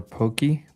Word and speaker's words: poke: So, hey, what is um poke or pokey?